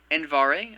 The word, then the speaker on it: Andvari: note here there ah andvari i believe it is pronounced and beto for the